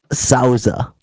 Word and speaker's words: Souza: to meet but joining us today Mr Dan Sauza right oh you nailed it man yeah see I'm very open-minded here I got told to stop saying Souza like I've been mispronouncing for it's the Portuguese